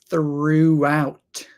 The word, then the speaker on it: throughout: How to pronounce throughout. First thing, unvoiced th sound. Through, throughout, throughout, throughout. Just like throw, throw, but the past tense of throw is through, out, throughout, throughout.